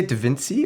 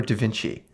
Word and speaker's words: Devinci: do you say da vinci or da vinci the fancy that's not how you say it oh yeah maple syrup